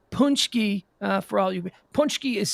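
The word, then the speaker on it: pączki: by the way punchy uh for all you punch key is spelt p a c p a c z k i p a c z k i p a c z k i pronounced punch key punch key it's a polish donut day that's uh you're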